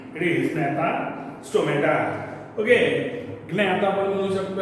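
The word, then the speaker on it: Gnathostomata: जीला सायलेंट ठेवा, GNA. इट इज नॅथा स्टोमॅटा.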